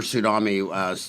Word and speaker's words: tsunami: Yeah, and by the way, they'll all the people who bought Billy Bob teeth will spill silver tsunami. They'll spell tsunami with an S, but the T is silent.